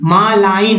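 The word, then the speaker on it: malign: Next है मालिन, मालाइन, मालाइन, इसमें जी का उच्चारण नहीं हुआ यानी दुष्ट, मालाइन।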